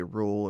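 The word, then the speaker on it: Rulle: People would say rule or rula. I call him the ruler. He loves that. Hula. Rolling R.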